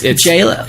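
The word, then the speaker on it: Jaylah: Because it's Jayla. It's Jalel. Jayla. It's Jayla. Well, J-Law. Jayla. Well, it's pronounced J-Law because it's technically his nod to Jennifer Lawrence.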